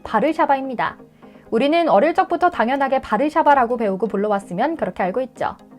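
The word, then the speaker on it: Warszawa: 심지어 모든 단어를 자신들의 뜻대로 세울, 페리스 하며 읽는 미국인들에게 우리의 수도는 바르샤바라고 읽는다고 아무리 말해도 그들은 아랑곳하지 않고 월소라고 부른다고도 푸념하면서 말이죠.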